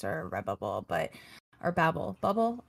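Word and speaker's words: Redbubble: but or Babble bubble I know I always say it wrong you you say red Babble and Nate loves it he says it all the time now he's like you mean red Babble yep red Babble um yep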